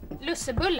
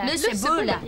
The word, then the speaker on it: lussebulle: Lussebulle. Lussebulle.